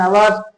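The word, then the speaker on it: hour: Waited for खाली स्थान आवर्स he waited for एन आवर्स ध्यान रखना है यहां आवर्स में एच है वो साइलेंट है तो क्या उच्चारण होगा इसका इसका उच्चारण होगा आवर ठीक है?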